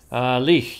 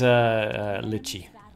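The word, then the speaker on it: Litch: Lich, you didn't pronounce her name Lichi. No. No, that is Lichi.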